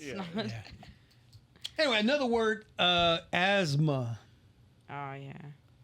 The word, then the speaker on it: asthma: Anyway, another word, asthma. Oh yeah. If you say it like it's spelled, is asthma.